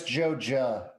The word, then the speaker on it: Joja: Well, no, it's Joja. Yeah. In Stardew Valley. Never mind. It's Monsanto It's spelled the same.